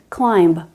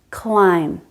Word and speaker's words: climb: clearer rules here thankfully we don't pronounce b after m climb dumb bomb comb thumb all of these end in the m sound if i did pronounce